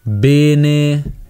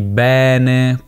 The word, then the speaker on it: bene: per esempio le vocali bene al posto di bene questo al posto di questo le vocali aperte chiuse che non corrispondono allo standard italiano se non lo sapevate